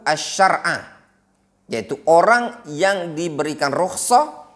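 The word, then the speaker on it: الشرع: Asy-syar'a, afwan, itu bacanya man rukhisa lahu asy-syar'a, yaitu orang yang diberikan rukhsah untuk dia syariat ini.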